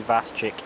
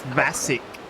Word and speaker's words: Vasic: Landry, Vaschick, Kelly, Dodson. It's Vasic. The C is silent.